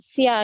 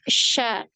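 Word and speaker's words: ش: Nah, makanya kalau dilatinkan biasanya ditulisnya SYA gitu ya, tapi bacanya jangan sia gitu ya. Tapi sha ya.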